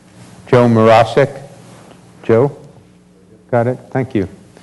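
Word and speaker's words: Mroszczyk: Finally, our student, and I'm going to try to pronounce this correctly, Joe Morosik.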